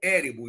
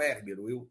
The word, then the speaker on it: Érebo: Érebo, não Érbero. Eu falei errado, estou corrigindo aqui.